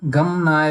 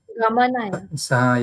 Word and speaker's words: गमनाय: when you are pronouncing like gam na, we should not pronounce. Gamanaya. Yeah. So because these all are having a at the end. See, ga, Okay. ma, and this is having a dirgha a. Yeah. So we should pronounce it gamanaya.